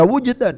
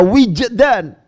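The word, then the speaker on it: وجدان: Nggak boleh dibaca wujdan, harus dibaca wijdan. Hal yang terkait dengan perasaan. Ya, begitu. Kejiwaan. Itu harus wijdan, tidak wujdan.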